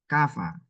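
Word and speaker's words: كفى: Kafa gitu ya Kafa Kafa nah ini ini tulisnya Ya tapi kan bacanya Alif tulisnya ya Tapi bacanya Alif Kafa ya ini dia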